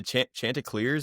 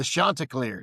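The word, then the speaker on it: Chanticleers: it's not going to be the what the chanters. How do you say it? The Shantaacars.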